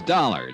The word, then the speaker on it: Dollar: Buzz I didn't it's dollar Johnny Dollar doar huh yeah rhymes with collar I always like to